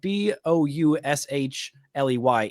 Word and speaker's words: Boushley: He gets nine strikeouts on you but then Caleb Boushley. Yes, yes, it's it's spelled b o u s h l e y.